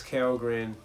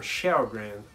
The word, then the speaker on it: Kjellgren: Although major kudos to Jonas Kellgren, or Kjellgren is the right way to say it, I think.